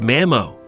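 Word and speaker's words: mamó: their grandkids in Gaelic grandmothers are called manio pronounced Mamo and grandfathers dadio pronounce Dojo try testing your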